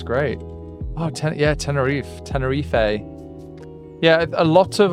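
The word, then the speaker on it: Tenerife: Tennere. Yeah. A lot of a lot of Brits call it Tenneref. And I think it's pronounced Tennere, I think.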